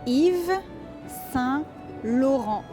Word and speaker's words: Yves Saint Laurent: So pronunciation wise, you would say Yves Saint Laurent.